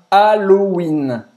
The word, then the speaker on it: Halloween: festeja o Halloween também presta atenção na pronúncia de Halloween em francês a palavra em inglês pronunciada afrancesada Aloína Aloe Haloween 17 Halloween